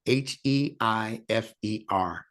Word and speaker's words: heifer: i f e r you don't pronounce the I or you just say